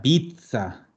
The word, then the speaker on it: pizza: z eso sí que la zeta es lo más parecido que tenemos nosotros como fonemas es un ats por eso siempre el ejemplo de aquí cuando en chile dicen vamos a comer una y dicen como dicen acá una pizza pizza una pizza sí porque si yo digo pizza es una ciudad en la ciudad de la torre la torre de pisa ya nosotros vamos a pronunciar pizza como la mozzarella tenemos